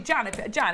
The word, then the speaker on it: Jan: Jan, it rhymes with ham.